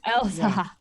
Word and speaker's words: Ehlsha: Elsa. The second H is silent.